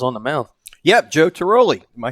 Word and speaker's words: Tiroli: Yep, Joe Tiroli. Am I saying it right, Coach? Yeah, Tiroli.